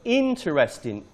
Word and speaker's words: interesting: Next word, interesting. Interesting. The stress is on the first syllable.